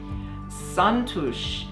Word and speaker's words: Xantus: Szantos is how you pronounce it in Hungarian, but we call it Xantus as hummingbird.